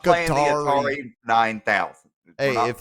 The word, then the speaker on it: Qatari: Qatar is what retarded Americans call it. Just being real. So then do you call the people guttery? Qatari. Qatari. Qatari. Almost sounds like Qatari. cutlery. Cutlery. A little bit, Cutlery.